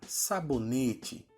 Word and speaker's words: sabonete: É o caso da palavra sabonete, que a tônica é a terceira sílaba, ne, e ela não tem acento.